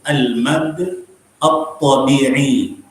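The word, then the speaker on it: المد الطبيعي: Like this one is al-mad al-tabi. Okay, this is the way you can read it. But if you have someone to pronounce it for you properly, then he will tell you the difference, the different way of pronouncing this. So it is al-mad al-tabi'i. Al-mad al-tabi'i.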